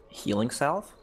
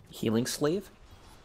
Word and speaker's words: Healing Salve: Healing Salve? Okay. Do you know what the actual pronunciation is? Healing Slave?